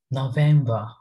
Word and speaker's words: November: november november it is most of us pronounce these v like b so we have to avoid it okay so november november november november november